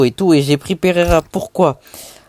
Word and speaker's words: Pereira: Parce que là où mes grands-parents habitent en Colombie, la ville s'appelle Enfin, en français, ça se prononce Pereira mais en espagnol ça se ça se prononce Pereira.